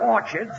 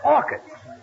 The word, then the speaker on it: orchids: some Orchards it's not Orchards it's orchids the CH is pronounced like K oh what movie did